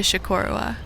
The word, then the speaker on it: Chocorua: And then we headed off to Chocorua, which is how you pronounce it from what I've learned.